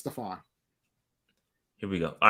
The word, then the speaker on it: Stefan: right for stefan sullivan it sounds like stefan but it is stuffing it's spelled stefan but it's staphon here we go all